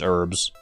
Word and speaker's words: herbs: I've always said it as herbs. Silent H and all.